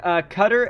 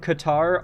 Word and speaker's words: Qatar: Qatar and Qatar are both apparently valid, like, terminology. There's not really like an official PC pronunciation of Qatar as far as I'm aware.